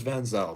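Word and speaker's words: van Zijl: cuz like they they um because like my last name is Vanzel but it's spelled V Z I J L and in Africans the version of Vanzel it's it has the same origin.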